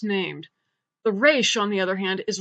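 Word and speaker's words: Resh: the Hebrew alphabet is race in America it's pronounced just like the letter R in Israel it's more of a guttural sound Israel that guttural thing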